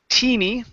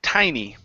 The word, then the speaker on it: tiny: to this word here instead of teeny this word is pronounced Tai tiny tiny okay but we